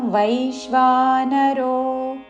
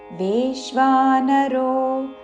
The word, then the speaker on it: వైశ్వానరో: अहं अनुस्वार వ ఉచ్చారణ అహం వైశ్వానరో వేశ్వానరో అనకూడదు వై ఐత్వముతో వైశ్వానరో భూత్వా భూత్వా రెండు